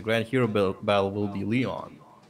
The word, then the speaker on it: Leon: Don't call me Lion. It's Leon, apparently. I was actually listening to Erica's voice clips in game, and she officially pronounces his name Leon.